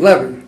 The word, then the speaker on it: Levy: See, I pronounce my name Levy. Okay. Because I don't have the money Levy's got. That's why I pronounce it Levy.